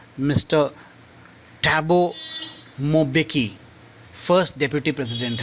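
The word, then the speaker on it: Mbeki: Mister टैबो मेबेकी, इनका नाम pronounce करना थोड़ा डिफ़िकल्ट है, यानी ये एक्चुअली जो एम है वो अ के उपचार में लेना पड़ेगा, इसे अम्बेकी, जैसे अम्बे बोलता है माँ अम्बे, वैसे ही अम्बेकी।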